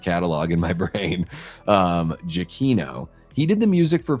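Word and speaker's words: Giacchino: And shout out to Michael uh Jakino. That's how you pronounce his name.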